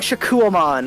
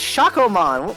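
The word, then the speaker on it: Shakkoumon: They keep saying Shakuamon all the time. It's like, no, it's Shakomon.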